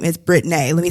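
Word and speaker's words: Brittnae: you that is b-r-i-t-t-n-a-e it is spelled the way it said however those out there in the world don't want to call me by my real name so people will revert to Brittany so when I collapsed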